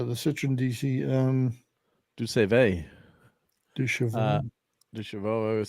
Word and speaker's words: Deux Chevaux: Du Chevaux. Du Chevaux. I always said Du Save, but what do When I was know?